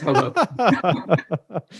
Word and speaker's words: Hoboken: Like let's say 2/3 people say Hoboken, but then some people choose to emphasize the second syllable and say Hoboken. So but I think it's Hoboken.